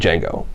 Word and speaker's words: Django: of a slave named Jango and by the way the D is silent who is freed by